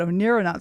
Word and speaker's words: Oneironauts: So astronauts, but Oneironauts. So we're astronauts in our dreams.